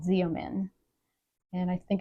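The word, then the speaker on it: Xeomin: you the same results as Botox it's called zomin and I think it's spelled Z as in zebra EO m i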